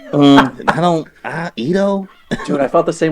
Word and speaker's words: Edo: in Edo Japan okay that's how you pronounce it right or is it Edo it's Edo oh you can say yo